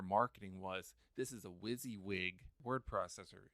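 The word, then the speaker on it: WYSIWYG: in a document Wy s i w g pronounced whs yeah wizzy wig what you see is what you get yes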